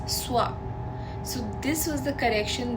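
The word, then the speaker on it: स्वः: So it is Om Bhur Bhuva Swa, and most of us say Om Bhur Bhuva Swaha. Swaha is not the word, it's Swa.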